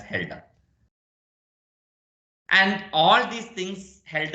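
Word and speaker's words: Hölder: from helder's inequality return holder but pronounced as Helga and all these things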